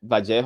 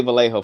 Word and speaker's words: Vallejo: And I know some people I've said Bajjo California, right? That's how you say it in Spanish. But some people who are from California are like, "Oh, you got to say Vallejo." Okay, I'm going to say Vallejo for this video.